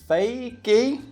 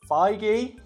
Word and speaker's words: Feige: ] and according to Kevin fakie is that right no feige feige Kevin feige um Marvel